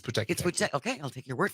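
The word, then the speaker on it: Pūteketeke: I had to sound this out phonetically. We want to send congratulations to the Puteki. The Puteki Teki. Puteki Teki? It's Puteki Teki. Is it? It's Puteki Teki.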